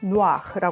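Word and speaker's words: noir: 미정 센이라고 하죠 그다음에 누아르 누아르 영화 누아르 필름 누아르 물이라고 하잖아요 이거 불어 단어 원래는 노아라 하거든요 무슨 뜻이냐면 검은색 어두운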